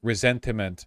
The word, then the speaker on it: ressentiment: Resentment is the English word. Resentiment is how people pronounce it in order to distinguish the Nietzschean version of the concept.